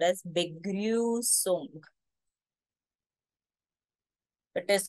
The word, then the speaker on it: Begrüßung: This is not B. Begrübung is a wrong pronunciation. As I said, this is a special character, the set sign, which is equivalent to double S. The sound will be the S sound.